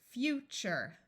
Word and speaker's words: future: Even though this is spelled T-U-R-E, it sounds like TURE because the sound TURE is hard to say. So this is TURE, TURE. This U will be long. Future, nature, vulture, texture, capture, fixture, culture.